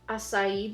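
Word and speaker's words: açaí: to take that same brush with the shade acai bowl and that's how you say it this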